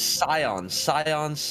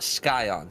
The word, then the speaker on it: Scion: Practice Scion, not Skyon.